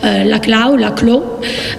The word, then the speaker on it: Laclau: C'était la lecture d'Ernesto Laclau, si vous le prononcez à la française.